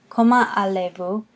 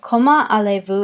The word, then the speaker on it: Comment allez-vous: we don't hear that coma allez-vous the Z's is silent there it's just not even used and you'll notice that